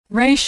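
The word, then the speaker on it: Resh: Re makes an R sound. Now, most Americans pronounce it like the R in road, but Israelis pronounce it as more of a guttural sound.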